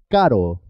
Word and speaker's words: caro: Carro, caro.